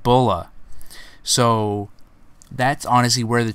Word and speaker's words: Bra: with bulma's name is literally just how the name is pronounced in japanese that's how they got the name bola back in dragon ball